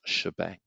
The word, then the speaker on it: shebang: Hash {exclamation mark} for those of you that want to speak young person language is pronounced shebang.